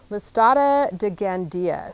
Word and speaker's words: Listada de Gandia: It's Listata de Gandia.